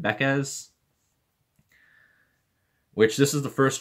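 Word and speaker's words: Backes: pack early this season I was pronouncing it David Beck's and a lot of people hated me for that so I think I'm pronouncing it right when I say David beca's which this is the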